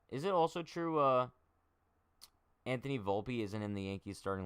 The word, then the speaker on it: Volpe: I'm actually confused as to how to pronounce this dude's last name. Volpe? Volpe. It's Volpe.